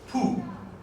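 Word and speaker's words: pu: The word is poo. That's how you pronounce it.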